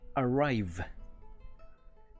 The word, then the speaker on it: arrive: Para pronunciar esa V lo más correctamente posible, es un poquito similar al sonido de la F. Lo que hacemos es pronunciar esa V como si mordiéramos el labio inferior con la hilera de dientes superiores.